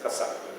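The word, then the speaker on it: กษัตริย์: In Thai, the word is pronounced Kasak, they shorten the word.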